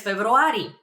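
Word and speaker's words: февруари: I would answer pres februari pres February it's a very similar to February February uh just a little bit of a trick over there in pronunciation but that means in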